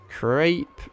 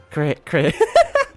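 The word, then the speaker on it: crêpe: I don't know, there's a thing about the French accent that I can't do. They like roll their tongue somewhere. Crepe. Crepe. I'm gonna crepe your cheese, bro. That's annoying me now that I can't say it like that. Crepe. Crepe. I guess you're kind of just getting rid of the A, aren't you?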